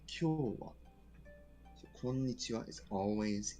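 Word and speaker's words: 今日: But today is no longer pronounced as konnichi, it is kyo, to try and differentiate between the two.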